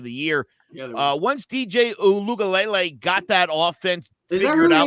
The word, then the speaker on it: Uiagalelei: Yeah, once DJ Uiagalelei got that offense figured out and down, that's how you're supposed to say it.